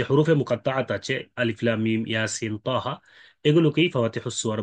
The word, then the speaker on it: الم: তিনটা অক্ষর মিলে আলাম এরকম উচ্চারণ করার সুযোগ নাই। এই হরফগুলোকে কেটে কেটে উচ্চারণ করতে হয়, আলিফ লাম মিম। এই জন্য আল হরফুল মুকাত্তাআত বলা হয়। কেউ যদি আলাম পড়া শুরু করে দেয়,